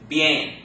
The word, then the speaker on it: bien: But if you run them together, it sounds like what? Yay. Got that? So this word is pronounced bien. Bien.